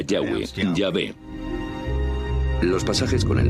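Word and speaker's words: Yahweh: nombre más íntimo y personal que normalmente se pronuncia yahwe yah los pasajes con el nombre de yah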